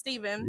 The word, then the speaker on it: Stefan: his name is Stephen it's actually spelled like Stefan but it's pronounced Stephen yep R steb handle